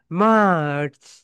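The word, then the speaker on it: March: মার্চ।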